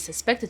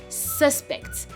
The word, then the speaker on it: suspect: word it can be suspect. Suspect. So basically the stress is on the first syllable whereas it's a verb it's suspect. As you can see it's on the second syllable.